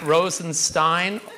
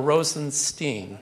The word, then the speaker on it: Rosenstein: is it Rosenstein or Rosenstein so there's no right answer to that question my family my father pronounces it Stine that's how I pronounce it but I actually have relatives who pronounced it Steen so I'll answer it